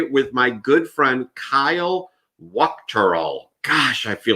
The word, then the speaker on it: Wuchterl: And I'm here today with my good friend, Kyle Wuchterl.